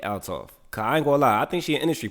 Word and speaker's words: Althoff: to pronounce her name I thought it was Bobby although but it's Bobby altoff I think she an